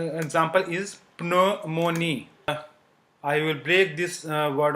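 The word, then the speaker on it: pneumonie: So it is not pronounced ji. Psychology, which means psychology. Okay. Then the second sound example is pneumonia.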